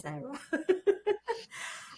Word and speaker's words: Sara: And folks, if you're feeling a little bit confused because Sara and my names are spelled the same, but they are said differently. That's life. I should be said Sara, but I've always been said Sarah.